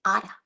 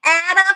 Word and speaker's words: Ada: I'm like, it's Anna. Anna rhymes with Prada."